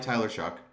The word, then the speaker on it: Taysom Hill: And, you know, they took this player, no matter how much you like or dislike Taysom Hill. Yes, that's correct pronunciation, if you guys didn't know.